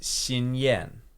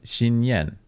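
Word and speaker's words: Xinyan: in names yeah and uh so this is shinen Shen Shin shinen cool so Shin is uh well it's used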